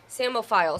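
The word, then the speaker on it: psammophile: it out for you it's p-s-a-m-m-o-p-h-i-l-e so I think I would have gotten the mo file yeah I would have gotten that but the same part with the two and the two M's and the silent P samophile so that is an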